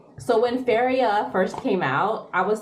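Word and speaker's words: Féria: So when Feria first came out, I was seeing commercials everywhere for it. And it's pronounced Feria. But all of these young girls were saying, today I'm gonna use Feria.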